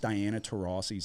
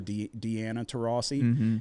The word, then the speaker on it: Diana Taurasi: Like, and then he mispronounced Diana Taurasi's name. Did you see that? He called her Deanna Taurasi, and she just put her head down and shook her.